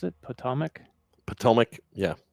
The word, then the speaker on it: Potomac: How do you pronounce it? Potomac? Potomac, yeah. Potomac River.